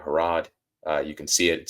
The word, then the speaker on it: Harrod: If you're listening to it, it's just Pennsylvania without the pen, Harrod like Harrods of London, and we're good to go.